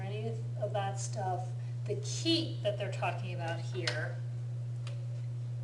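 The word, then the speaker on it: 気: um so that key it's pronounced chi in Chinese but it's key in Japanese and you know so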